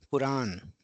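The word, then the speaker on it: プラン: Similarly plan puran puran. So in this way the a sound in in English word will be treated in katakana using the a sound.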